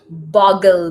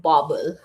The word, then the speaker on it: Boggle: All right, let's get you the boggle box. Boggle, not bobble.